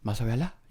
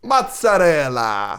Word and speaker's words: mozzarella: What's with the Spanish accent? Mozzarella? That's not how you pronounce it? How do you pronounce it? It's Italian, so it's mozzarella.